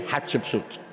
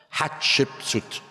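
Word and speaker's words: Hatshepsut: to pronounce the name Hatchepsuit. I said to Stephano talk after me. Hot a chicken soup. Hot chipsuit. And now Stephano bring hats to life.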